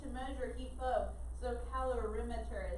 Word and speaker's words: calorimeter: measure heat flow so calorimeter is how you say that it looks like it looks like it looks like color or it looks like cattle calorie mixture but calorimeter is a technically supposed to say all right let's go